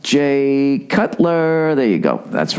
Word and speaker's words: Jay Cutler: Jake Cutler. Is it Jay or Jake? Jay Cutler. That's right.